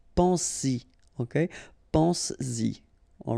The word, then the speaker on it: pense-y: But then if you put this Y, so this pronoun after, then you will have to put back this S just to produce it orally, because you will pronounce it pense-y, pense-y, okay?